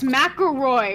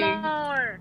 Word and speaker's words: McElroy: It's McElroy. What the fuck are you saying? Macklemore. Says Macklemore? Says McElroy. Macklemore. Macklemore. Thank you. Thank you. MC says Mick. Elroy. It's McElroy. That's how they pronounce it.